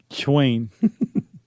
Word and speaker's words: Chwain: Chwain. It's not awkward to pronounce. It's really close to Schwing.